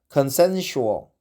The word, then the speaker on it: consensual: Consensual, consensus, consensual. Well, let's find out the exact pronunciation of consensus. Okay. Consensual. I think consensual. Consensual. Exactly. So the second S sounds like sh.